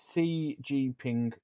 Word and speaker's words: Xi Jinping: But I think CG Ping, isn't it? it's Xi Jinping. ZG Ping, I No, because think. the X is pronounced as a C in Chinese, so it'd be Xi Jinping.